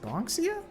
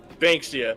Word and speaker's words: Banksia: I think her name was Ms. Bonxia? Kate chuckles at my mispronunciation. Banksia, like bank.